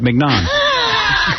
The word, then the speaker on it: mignon: So Scott says, oh, you're pronouncing it right, mignon.